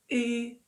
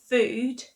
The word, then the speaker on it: food: sound should be pronounced Now in this case though, however, the double O sound actually makes the long oo sound. So we've got food, food, and ood, mood.